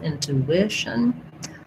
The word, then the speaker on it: intuition: So in intuition, we have stress on the I syllable, intuition.